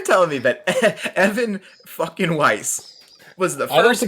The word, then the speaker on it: Weiss: What why is Weiss is how it's said, Weiss grocery stores in the Midwest.